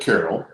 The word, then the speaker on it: Carrell: anyway this is uh dennis carroll he pronounces it carol and uh he does